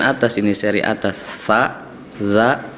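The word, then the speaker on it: ز: Selanjutnya huruf za dan zo ini hampir sama nih. Zai dan zo hampir sama padahal berbeda. Kalau zai lebih ada getaran dalam pelafalannya za.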